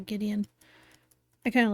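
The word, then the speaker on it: Gwydion: So, Gideon, even though it's it looks like it's Gwyon, but I think I saw an interview and Roberto Williams pronounced it uh Gideon.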